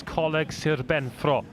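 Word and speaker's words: Coleg Sir Benfro: Of course, colleague Sir Benfro would be the correct pronunciation.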